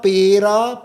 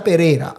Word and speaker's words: Pereira: when some other countries my friends are calling my name Pereira Pira Pereira like that I'm but I'm Pereira.